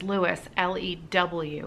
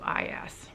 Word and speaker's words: Louis: So you should know, because I was reading that, RLS was known as Lewis, Lewis. Aha! Okay, so it is Robert Louis Stevenson.